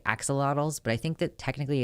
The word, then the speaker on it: axolotl: that word because it's it's not just Asha look it's like they're the TL at the end Axolotl when people are like